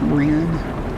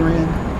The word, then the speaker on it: Rennes: city's name, I did Somebody told me it's Renne and uh I also had also Googled it and Google said it was Renne and you know, Google is owned by YouTube.